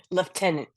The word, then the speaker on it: Lieutenant: Lieutenant junior grade. Yes. Although it's not spelled like that at all, but No, it is not.